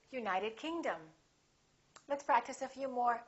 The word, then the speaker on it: United Kingdom: names of places if the place has two words we stress the second word for example South America we say South America United Kingdom we say say United Kingdom let's practice a few